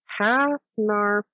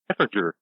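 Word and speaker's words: Hafnarfjörður: It's Hafnarfjordur. Yeah, Hafnarfjordur. Yeah, Hafnarfjordur. Well, you said it right.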